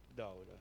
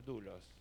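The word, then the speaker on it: δοῦλος: Y la palabra en el original del griego es doblos. Muy bien. Creo que se pronuncia dulos.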